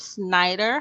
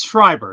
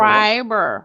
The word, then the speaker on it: Schreiber: sure it's Schreiber. It's German. It's got a little Schreiber. R in there, but you were close.